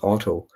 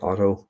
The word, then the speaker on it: Otto: Oh, my name is Otto. Oh, okay, Otto. Do beg your pardon.